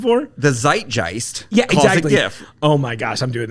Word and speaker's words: GIF: Yeah, that same charming +1 is a soft G GIF. And she's like, well, the creator said it that way.